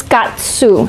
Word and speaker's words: Katzew: Ilona, Ilona, and her last name is Katsu, so it's spelled Katzew, and she's the curator of colonial art at LACMA.